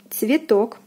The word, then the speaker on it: цветок: Next we have цветок, цветок, цветок. O is stressed, is pronounced as in the alphabet.